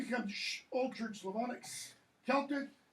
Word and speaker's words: Celtic: Celtic, even though it's spelled with a C, that's a k sound.